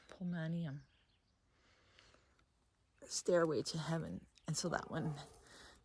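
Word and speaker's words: Polemonium: It's pronounced pomolium.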